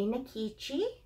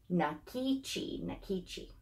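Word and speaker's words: Nkechi: Please welcome baby Nikichi. That is her name. Nikichi is spelled, I have it on a little sticky note on the wall because you'll know I'm not great at that. N-K-E-C-H-I, Nikichi.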